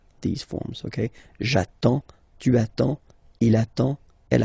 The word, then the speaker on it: j'attends: So the first form will be j'attends, j'attends. Okay, you get D and S, well, basically you don't pronounce them, okay, and then you get only the sound attends, nasal here, en, j'attends, okay.